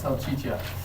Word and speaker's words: Salchicha: Salchicha.